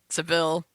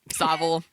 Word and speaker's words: Savile: other side of Jimmy Savile Seville Savile sorry Jimmy zoval crimes That